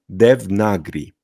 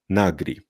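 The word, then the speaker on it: देवनागरी: ze słowo Arabskiego pochodzenia ale powiemy de nagri czyli tego a tutaj nie przeczytamy i tego a tutaj nie przeczytamy czyli powiemy nagri czy oni tak jak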